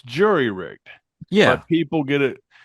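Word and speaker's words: jury-rigged: that has been disabled lost overboard Etc so Jerry rigged is an acceptable pronunciation well it's the it's jury rigged yeah but people get it it's kind of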